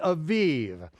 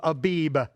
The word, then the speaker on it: Aviv: the month of V Aviv now in your King James Version I'll say the month of Abib okay I don't care whether you're pronouncing with the wit with the vet or the bat it